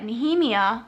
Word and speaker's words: Nehemia: And she finds out that Nehemia, which is how you pronounce her name, knew about the keys,